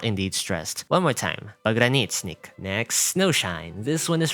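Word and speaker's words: Pogranichnik: Note that the letter O is pronounced as ah, because the letter O in Russian is only pronounced as oh when it is stressed, and in this case, it is not indeed stressed.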